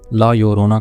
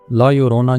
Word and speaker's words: La Llorona: यानी जिसे ला योररोना कहा जाता है। इसके स्पेलिंग आपको स्क्रीन पर नजर आ रहे होंगे। ला यरोना जो कि स्पैनिश लफज है और इसका मतलब द वीपिंग वुमेन है।